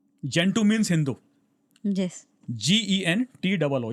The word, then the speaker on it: Gentoo: जेंटू means Hindu, yes, GENTOO, ये spelling है उसका।